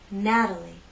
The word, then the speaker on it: Natalie: true T sound Matilda in this name we have three syllables and it's the first syllable that's stressed Natalie Natalie the T is part of an unstressed syllable so we use the flap T let me offer a